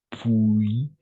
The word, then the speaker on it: puis: Ici, on va prononcer puis, tel quel, puis, sans le S, en effet, puis.